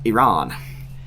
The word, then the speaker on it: Iran: with Iran, or Iran, which is actually pronounced, I say Iran or Iran, depending on how my brain's working for that day. But it's actually pronounced Iran.